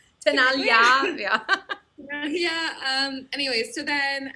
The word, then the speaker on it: Tenaglia: Tenaglia? Tenaglia, yeah.